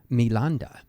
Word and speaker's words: Milinda: panho means questions of milanda milanda is the Pali pronunciation of the Greek name menander and this was a